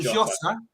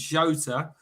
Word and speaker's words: Jota: Just let me load in a picture of Jota because you've got to say it properly. Like Jota. It's not Jota. It's not Jota. It's Jota.